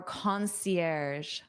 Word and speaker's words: concierge: Look at this word and then listen to my pronunciation. Our concierge. Concierge. So this is a word we borrow from the French language.